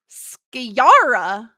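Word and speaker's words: skjære: use much anymore but it's pronounced more or less skara and is the Norwegian word for Magpie oh what is Magpie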